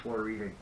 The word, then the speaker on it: Florida: Yeah, it's called Florida, but it's spelled Florida. Yeah, and you don't say Florida to the locals, because, man, they yell at you. They get irritated. They do. It is Florida, not Florida.